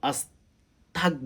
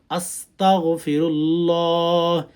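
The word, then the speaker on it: أستغفر الله: এটাও যদি না পারেন এতটুকু বলেন, আস্তাগফিরুল্লাহ, আস্তাগ বলবেন না, হ্যাঁ, আস্তাগফিরুল্লাহ, আস্তাগফিরুল্লাহ, আস্তাগফিরুল্লাহ, আস্তাগফিরুল্লাহ, এভাবে উচ্চারণ করবেন।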